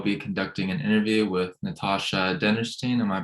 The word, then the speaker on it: Natasha Dennerstein: and today I'll be conducting an interview with Natasha dennerstein am I pronouncing that correctly yes you are she's a